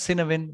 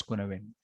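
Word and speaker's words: Cynefin: Written as Sinawin, but it's pronounced as Kunawin.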